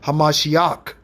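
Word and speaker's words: המשיח: Hamashiach is the original pronunciation.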